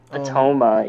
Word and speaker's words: Atoma: Atoma, yeah.